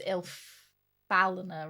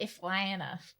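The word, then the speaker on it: Ifalna: I know it's Ilfalana, right? Not Iflana.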